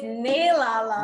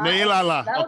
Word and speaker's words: Nailala: It's Nailala. Nailala. Okay. It's spelled like Nailala.